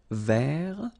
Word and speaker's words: vert: So masculine form, you don't pronounce the final T. Vert.